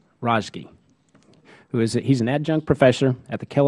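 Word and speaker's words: Razeghi: You're going to have to pronounce it. Rozgi. Okay. Well, I appreciate you pronouncing it for me. I'm terrible with names. Rozgi, he's an adjunct professor at the Kellogg School of Management at Northwestern University.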